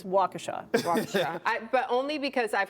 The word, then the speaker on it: Waukesha: Uh, I'm gonna say Waukesha. Very good. It looks like it could be like Waukesha. It's Waukesha Waukesha but only because I've heard right before, yeah.